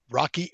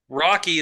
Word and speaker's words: Roky: I am going to give you Rocky Erickson. Don't slander me. Rocky is spelled Roky, by the way.